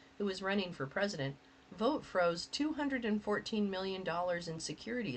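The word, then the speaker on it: Vought: During Donald Dump's first term, Vote, whose name is pronounced vote, Yep.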